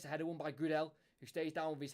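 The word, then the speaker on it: Gudelj: pronounce his name uh the J is silent so it is just good L um he's Serbian he's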